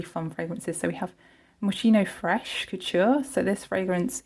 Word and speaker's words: Moschino: So this is Moschino, or Moschino, I've been saying it wrong, Moschino Funny.